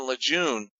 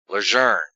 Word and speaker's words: Lejeune: all these NCIS agents they were pronouncing Lejeune Luzerne and it was driving